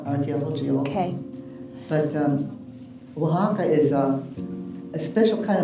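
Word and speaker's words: Oaxaca: do you want to tell them how it's pronounced waka waka waka Mex Meo and that's the hotel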